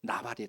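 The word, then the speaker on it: נבל: 없도다 여기에서 어리석은이라고 하는이 단어는 히브리어로 발입니다 여러분 발이라고 발음하는데이 나발 아시죠 아비가일의 전남편 나중에 다윗의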